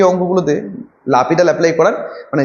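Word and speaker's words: L'Hôpital: এটা হচ্ছে লাপিটালের নিয়ম, এল হসপিটাল লেখা হয় কিন্তু উচ্চারণটা হচ্ছে লাপিটাল, হসপিটালস রুল, ঠিক আছে, উচ্চারণটা হলো লাপিটাল।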